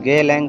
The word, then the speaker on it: Geylang: तो मैं जहाँ था वहाँ का ये लोकेशन मैं दे रहा हूँ, इसे कहते हैं गेलांग 6। गेलांग स्पेलिंग मैं आपको बता रहा हूँ, स्पेलिंग है GEYLANG।